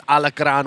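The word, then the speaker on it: alacrán: from the locals saying it's not scorpion Island it's alakran which is scorpion in Spanish but we don't want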